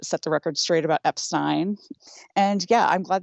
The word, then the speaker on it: Epstein: came out in which his PA not only tells a caller asking for his name that it's EP Stein but emphasizes Epstein again after the unobservant caller says Epstein this all in clear earshot of I don't think you mentioned how the caller says it wrong and gets corrected which I think adds considerable weight to upstein as the appropriate pronunciation I do agree that